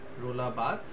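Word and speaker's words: Roland Barthes: পারি যে একজন ক্রিটিক আছেন যার নাম হচ্ছে রোলাবাদ উচ্চারণটা রোলা বাদ ঠিক আছে ঠিক আছে বাংলায় তোমরা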